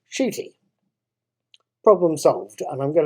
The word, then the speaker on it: Ncuti: His name is spelt Ncuti, but it's pronounced Ncuti.